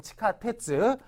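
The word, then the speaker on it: 地下鉄: 지하실 하게 되면 치하 시즈 아닙니까 뭐 지하철면 치카테츠 뭐 런 거 뭐 다 카버가 되는데 하숙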